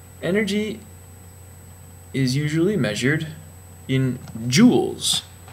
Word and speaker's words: joule: learned that yet energy is usually measured in joules it's not spelled with a double you like jewelry it's spelled